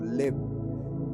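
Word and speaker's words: לב: Esta palabra corazón está traducido del hebreo que se pronuncia como lev.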